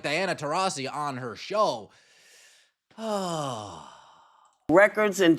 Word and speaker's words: Taurasi: It's Taurasi.